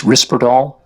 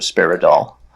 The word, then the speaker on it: Risperdal: mean to be picky it's risperdal and the generic is risperidone so a lot times people kind of combine those end up with a sparrow Dahl risperdal is the the name